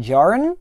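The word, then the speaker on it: Djarin: have here Mando din Jaron I believe that D is pronounced silent and we have him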